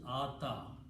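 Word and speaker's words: آتى: And this is pronounced as ata.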